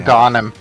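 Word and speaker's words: Agahnim: I've never known how to pronounce his name. Aghanim.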